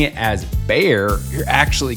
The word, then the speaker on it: Bexar: If you're pronouncing it as Bear, you're actually correct. Most people mispronounce it as Bexar County.